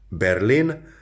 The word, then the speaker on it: Berlin: So, tengo muchos amigos or muchas amigas en Berlin. That's how they pronounce Berlin in Spanish.